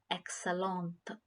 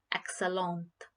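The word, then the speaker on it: excellente: t is not grayed out which means it's pronounced as excellent a little bit you feel the the sound of t at the end which is t excellent but when it comes to when you say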